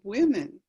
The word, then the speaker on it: women: But you make it plural and the men part is the same. It's women.